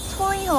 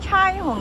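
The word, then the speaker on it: 彩虹: 사람 짱나 여기에요 여기가 초이홍 아파트예요 근데 초이 홍이 아니라이 나라 발음으로는 차이홍 이래요 차이홍 차이 홍이 무지개라는 뜻이라고 하더라고요 친구가 너 몇 급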